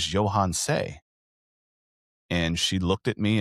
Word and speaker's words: Yohance: And once I started to learn phonetic pronunciation, I went to the name book that my mother had where she had picked out my name and I looked at it. I said, "My name is Johans."